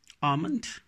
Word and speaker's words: almond: together in a word, there we have to mute L. We don't have to pronounce L there. In most of the words, not always, like salmon, almond, bomb, palm.